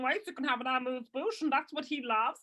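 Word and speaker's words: amuse-bouche: Like Americans say amusement, but amuse. Amuse Bouche. Amuse Bouche.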